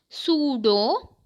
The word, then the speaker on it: pseudo: Pseudo, P silent here, P is silent.